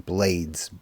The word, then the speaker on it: Blades: known more as Reuben Blades, like they they pronounce his name Blades, B L A Ds, but we called him Reuben Blades, you know, back when we saw him.